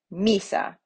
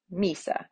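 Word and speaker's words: missa: So for example, misa, they give you, has two syllables, and the accent goes on the penultimate, or in this case, the first, right? So misa, misa, right? So on that I, misa.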